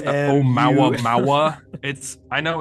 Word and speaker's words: Oumuamua: the asteroid Oumuamua. I don't know how to pronounce Oh, it. Nice. Oumuamua.